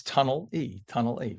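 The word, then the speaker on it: Tonnelle: It's Tunnel E.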